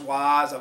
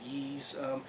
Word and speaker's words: Ys: The first one, I've heard it pronounced Wise. Pete Dorr pronounced it Yeez. I think there's a couple other ones that pronounce it like that.